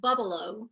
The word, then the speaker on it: Bubbleaux: Bubbleaux, Bubbleaux, and the EAUX has an O sound to it. So you pronounce it Bubbleaux, and it is a bubble bath.